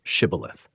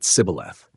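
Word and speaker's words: Shibboleth: but allies or neutrals, the guards ask them to say one word, shibilith. The word probably means flowing stream or ear of grain, something common every day. But the pronunciation reveals tribal identity. The Ephromites cannot form the shush sound correctly. Their dialect renders it cibilth.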